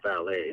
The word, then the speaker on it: Vale: There's a company that is called Valet, and it's spelled VALE for those who want to do search engine work.